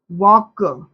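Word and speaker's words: walk: अब यहां पर देखिए साइलेंट वर्ड जैसे वक टॉक और हाफ ऐसे कुछ ऐसे वर्ड्स होते हैं जो इसमें देखिए इसमें एल क्या है?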